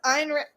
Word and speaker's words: Ayn Rand: Pronounced Ayn Rand. That's why there's a Y in there.